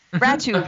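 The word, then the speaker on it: Rattoo: Ratu rhymes with tattoo.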